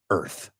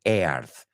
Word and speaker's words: earth: one to say, because I've heard a lot of students mispronounce the word earth. They say earth. So here's my advice to you. When you imagine the word earth, I want you to imagine it without the A.